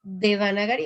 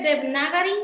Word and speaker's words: Devanagari: ¿Sí es Devanagari o es Devnagari? Es que Devnagari creo que es en hindi. A veces suelen quitarle la A.